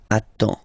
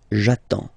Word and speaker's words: attends: You get D and S. Well, basically you don't pronounce them. Okay? And then you get only the sound attends. Nasal here. En. J'attends.